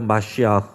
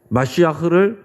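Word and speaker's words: מָשִׁיחַ: 앞에서 2절에서는 기름 부으신 자, 여호와가 기름 부으신 자라고 표현됐는데 히브리어로 이 기름 부으신 자라는 말이 마시아흐입니다. 마시아흐. 한번 따라해 볼까요? 마시아흐. 마시아흐를 우리가 일반적으로는 메시아라고 이렇게 발음하는 거예요.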